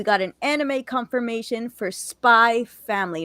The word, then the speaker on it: Spy x Family: We got a season 3 confirmation of Mob Psycho 100, and we got an anime confirmation for Spy Family, not Spy X Family. The X is silent.